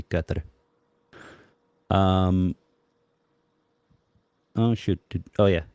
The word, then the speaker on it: Qatar: Um, kind of like Qatar. It's, everyone says Qatar, but the pronunciation is supposed to be Qatar.